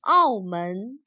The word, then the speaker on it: 澳门: Its Chinese name is written like this and pronounced 澳门.